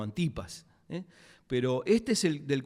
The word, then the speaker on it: Antipas: es el Herodes llamado Antipas o Antipas. En muchos libros lo he encontrado con el acento en la A. Yo lo conocí siempre como Antipas, pero este es el